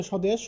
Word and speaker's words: স্বদেশ: 1 নম্বর যে নিয়মটা সেটি হচ্ছে আদ্য ব্যঞ্জন বর্ণ ব ফলা যুক্ত হলে, মানে শব্দের শুরুতে যদি কোনো ব্যঞ্জন বর্ণ থাকে এবং এর সাথে যদি কোনো ব ফলা যুক্ত থাকে, তাহলে সাধারণত সেই ব ফলার কোনো উচ্চারণ হয় না।